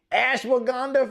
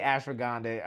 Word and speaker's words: ashwagandha: Herbs like ashwagandha, and I know people say, well, you don't say it like that, people from the Southeast Asian areas, but here in the US, we say ash ashwagandha forever. We say ashwagandha. Uh I say ashroandha. I mean you could come from if you want to. Yeah. But I say ashwagandha.